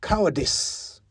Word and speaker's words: cowardice: I mean, we wouldn't say justice instead of justice, would we? And we certainly would never say service or jaundice. So why cowardice? Anyway, we now know better. It's cowardice. That is how you say it right.